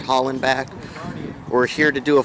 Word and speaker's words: Hollenbeck: I'm approaching the the um uh Helen Helen back or Holland back I believe that's pronounced Holland back we're here to do